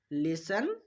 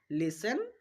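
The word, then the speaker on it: listen: টিটা সাইলেন্ট রাখবো। উদাহরণ দেখো। লিসেন Hesson ফাসেন। তিনটা উদাহরণের মধ্যে আমরা এসটিই পাচ্ছি। সেইজন্য আমরা টিটা সাইলেন্ট রেখেছি। এখানে টি এর উচ্চারণ করিনি। দেখো লিসেন হেইসেন ফাসেন চলো আমরা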